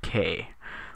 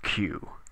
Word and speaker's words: queue: Q now you might say Sir that is pronounced K like it is Spanish or something not q but believe me as a reformed ker I